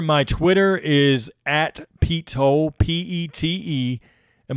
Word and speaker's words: Toal: Tanner, my Twitter is at Pete Toll, Pete, and my last name is spelled Toal. So it's all one word, Pete Toll.